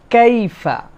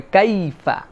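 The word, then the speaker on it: كيف: 2 নম্বরে কাইফা, এখানে মনে রাখতে হবে কাইফা, এই যে ইয়াটা, এটাকে বলা হয় লিন। আরবিতে একটা কায়দা আছে লিন, এটা হচ্ছে নরম করে উচ্চারণ হবে। ইয়ার উপরে সাকিন, আগে যদি জবর হয় তাহলে আমাদের জন্য এই ইয়াটা কাইফা এরকম যেন না হয়, কাইফা কাইফা, মানে এটা একটা নরম হবে, লিন।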